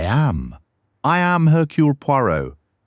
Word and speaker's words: Hercule Poirot: "That's it," she said, pronouncing it Hercules Poirot, adding an S to the first name and sounding the T at the end.